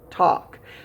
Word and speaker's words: talk: a little tricky because it does have a silent letter talk and the a does not sound like a usual a can you hear a